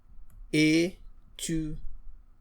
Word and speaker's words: étudiante: But if I have a female student, that student will say je suis étudiante. So add an extra E, which now allows you to pronounce the last T.